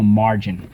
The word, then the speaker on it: margin: it so let's go first syllable mar second syllable gin and i'll tell you in a second how do we mark this up underline the r i see a rule here excellent rule three soft g sometimes when followed by y i or e okay and sometimes you'll hear